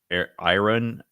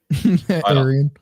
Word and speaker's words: Arian: I actually wouldn't hate Aryan, whatever. Arian. It's not Aryan. It's not definitely not Aryan. bad. But but It's literally pronounced as I run. Like I ran. Ayn Rand? Like the verb run.